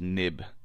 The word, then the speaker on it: xib: xib this xib actually is pronounced nib nib uh that comes